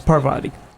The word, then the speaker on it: Parvati: No, it's Parvati. Parvati. Yeah. Gotcha. Parvati. That's just mispronounced. Really?